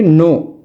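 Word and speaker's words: knew: எடன்ற அந்த இறந்த காலத்துக்கு மாறும் பொழுது அதை நாங்க உச்சரிக்கிறது வந்து நூ நீங்களும் ஐ நியூ தட்ன்னு சொல்லக்கூடும். ஆனா உண்மையிலேயே அந்த சொல்லை நாங்கள் ஐ நூ அப்படிதான் சொல்ல வேண்டும். ஐ knowோ தட் ஐ நோ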